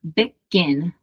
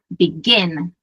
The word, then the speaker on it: begin: Então, eu falo begin, eu não falo begin, certo?